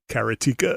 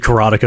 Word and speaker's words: Karateka: I used to say Karateka. Karateka. I know some people say Karateka. I said Karateka.